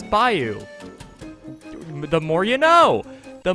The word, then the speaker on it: bayou: thing, which I guess makes sense for the pronunciation. Sorry, Louisiana, but it's clearly Bayou, but apparently it's Bayou.